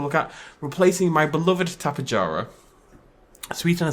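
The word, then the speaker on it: Tapejara: And Tapajara is how you pronounce it. I know I say Tapajara all the time, but it is a harder J.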